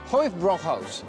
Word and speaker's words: Hofbräuhaus: How do you say it? Hofbräuhaus. Hofbräuhaus. Yeah, good. Perfect. Hofbräuhaus.